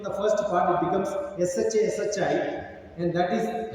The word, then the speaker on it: Shashi: That S-H-A you take and put in the first part, it becomes S-H-A, S-H-I, and that is how my name is spelled in North India.